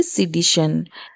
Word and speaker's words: sedition: टी आई ओ एन इसे हम pronounce करेंगे सीडी श इसका इंग्लिश डेफिनेशन है